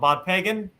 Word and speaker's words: Bodpegn: Bodpegn is how he pronounces his first name.